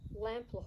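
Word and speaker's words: Lamplugh: So now I'd like to talk a little about Lampler Hall, and Lampler is spelt L-A-M-P-L-U-G-H, and you'll also see it spelt L-A-M-P-L-O-U-G-H. And for a long time I thought Lamplow was the name of the property, but in my research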